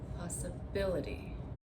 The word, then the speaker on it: possibility: Now, if I add the ity, we say we're going to stress the syllable right before the ity. We're going to say possibility.